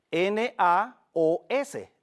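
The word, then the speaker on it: ναός: es la palabra naos, N-A-O-S, naos, así como se pronuncia.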